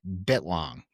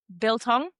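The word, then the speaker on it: biltong: You said that so wrong, but I'll forgive you. How do you say it? Bilong. Bilong. Okay. Yeah.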